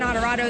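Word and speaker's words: Onorato: the sign and said some of you have trouble saying my name it's adorado that just the name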